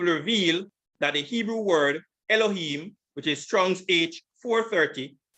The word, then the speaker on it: Elohim: the mem the final form so it's e-l-o-h-i-y-m elohim and it is pronounced this way strong's h430 entry one eloach second entry elohim elohim and the third entry is a singular